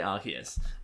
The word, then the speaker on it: Arceus: We're an Arceus family. We say Arceus.